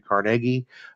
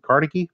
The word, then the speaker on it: Carnegie: industry would be Andrew Carnegie a lot of times people in society pronouncing carnegi but it was carnegi uh and the Steel